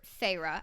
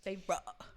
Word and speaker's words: Feyre: that because the main character farra I think that's how you say her name farra it begins and she